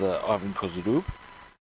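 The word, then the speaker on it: Ivan Kozhedub: That is Ivan Kozudub, so it's pronounced, quite beyond that.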